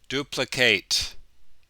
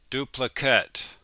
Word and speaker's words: duplicate: For the verb, we say duplicate. The other ones, we say duplicate.